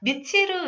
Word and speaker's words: 미틸: 외국어 발음이라 미칠을 이렇게도 저기 하거든요. 말을 하기도 하더라고요. 전 미칠로 알고 있었거든요. 틸틸과 미틸 남매는 꿈속에서 자신의 아픈 딸을 위해 행복의 파랑새를 찾아달라고 하는 요술 할머니를 만나요.